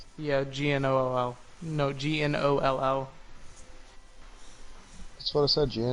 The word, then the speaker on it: gnoll: Yeah, G-N-O-L-L.